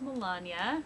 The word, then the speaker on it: Melania: hi my name is Melania rhymes with lasagna and there is life